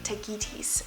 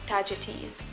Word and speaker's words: Tagetes: built around the flower, tagetes or tagetes. It depends, again, from which language you bring this Latin word into pronunciation.